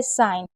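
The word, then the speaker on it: sign: Rule number 16 है कि जब भी जी एन साथ में होगा तो जी को नहीं पढ़ा जाएगा। जैसे हमेशा जी साइलेंट रहेगा। जैसे साइन जीएस से पहले अगर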